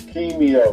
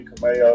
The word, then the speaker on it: Kimeyo: yeah that's fine but it's Keo but you can call me Cameo that's usually how most people pronounce it n no I rather